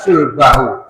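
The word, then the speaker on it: صلبه: Yuqimna sulbahu. Agar dapat menegakkan tulang rusuknya. Sulbahu itu sh lam ba itu salib itu tulang belakang kita bagian bawah itu seperti salib ya.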